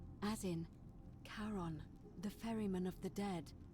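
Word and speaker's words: Charon: coin just as you described it only your pronunciation is a little off the name you heard wasn't Karen it was c h a r o n as in Caron the ferryman of the Dead coin helps The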